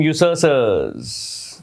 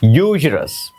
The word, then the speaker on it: usurer: usurer क्या होता है, देखिए इसके 2 प्रोनाउंसिएशन है। usurer, एक तो ब्रिटिश है, उसमें लास्ट आर साइलेंट है, सो इट इज usurer। usurer। American में usurer, आर प्रोनाउंस होगा लास्ट वाला, बस, ठीक है।